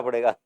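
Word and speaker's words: Pfund: spelling आपकी उसकी है पी साइलेंट है पंड पंड ए इ 5 फटाफट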